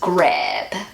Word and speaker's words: Grab: meaning in German is grab. And grab means to grab something. I'm so hungry, I'm just gonna grab an apple. And in German, grab is pronounced Grab. grab, which means grave, like a headstone.